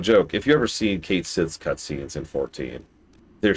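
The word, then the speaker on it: Cait Sith: I will literally literally never pronounce it the other way. It is Kate Sith forever.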